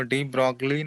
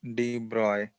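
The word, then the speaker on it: de Broglie: हाँ, वो डी ब्रॉगली नहीं, वो लिखा जाता है बट इट is pronounced as डी ब्रॉय।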